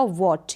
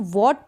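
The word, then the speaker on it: what: डब्ल्यू एच ए टी डब्ल्यू एच ए टी इसको पढ़ा जाएगा वोट यहां पर मैंने प्रेजेंटेशन दिया है इसको हम व्हाट पढेंगे यानि कि डब्लू एच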